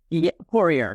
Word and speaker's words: Poirier: I hope I spelled that pronounced that right. Porier. Porier.